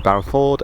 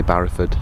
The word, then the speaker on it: Barrowford: adventurous day getting through Barrowford and up through Foulridge. I really want to say Barrowford and not Barrowford, but I think that's how the locals pronounce it, so it must be right.